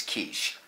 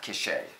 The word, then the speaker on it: quiche: the case of Qatar actually it's quiche not cachet I was just saying